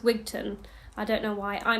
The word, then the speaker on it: Wigtown: in wigtown or it's not with town it's pronounced wigton I don't know why I mean my englishness even though my family is Scottish um pronounced things in such an English way when it's actually pronounced wigton but anyway um I got another Michael my